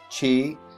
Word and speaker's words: chi: It's not pronounced chi. It is chi-square test. So if you're familiar with Greek organizations, that is the letter chi. That's how it's pronounced, C-H-I.